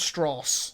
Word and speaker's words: Strauss: strong stress Lewis Strauss it's pronounced straws but yeah I was